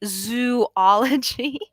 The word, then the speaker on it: zoology: Do you know that the correct pronunciation of the word zoology is actually zoology? Because, biology, we have to keep the ology.